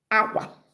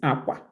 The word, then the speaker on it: akwa: You can see these two words, they look alike, but their pronunciations are different. This is clothes, aqua. The two A's went up. But for the bed, aqua, the two A's comes down.